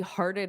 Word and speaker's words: hearted: So this is two syllables as well. We have heart, But then this T is going to turn into more of a soft flap T, which could be a D sound.